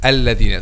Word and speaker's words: الذين: instead of الذين, but the correct pronunciation is الذين. So how to make this? Just to make the tip of the tongue touch the edge of upper two front incisors.